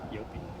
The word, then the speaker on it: Jopie: Okay, my official name is III, but everybody knows me as Jopie, and Jopie is spelled with a J, but pronounced like a Y, Jopie.